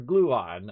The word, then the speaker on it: Gluon: because i'm old uh i used to say his name wrong dr gluten it's not gluten it's dr gluon uh fantastic streamer by